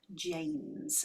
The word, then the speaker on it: Jaymze: there we go uh so I'm joined by James Toronto based singer song writer musician producer and host of his own podcast which is wicked with James have I said your name oh yes yes because you spell it slightly differently yes um I always say